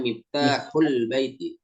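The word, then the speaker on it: مفتاح البيت: Bacanya miftahul baiti. Disambung ya.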